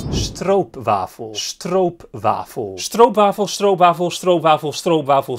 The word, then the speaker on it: stroopwafel: Also, he says stroopwafel, but the pronunciation here in Dutch, if I'm gonna be a nitpicker, is stroopwafel.